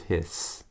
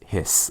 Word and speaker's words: His: called the bundle of His. Bundle, kind of funny names, I know. Bundle of His. And even though it's spelled H-I-S, you don't say his, it's hiss, almost like what a snake does.